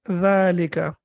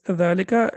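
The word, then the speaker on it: ذَٰلِكَ: It is written as dhalika and pronounced as dhalika, as we can see over here, and there is a hidden like alif over there.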